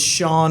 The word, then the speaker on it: Sean: My name is Sean, spelled S-E-A-N. That's not very phonetically correct. There's no S-H, but that's how it works.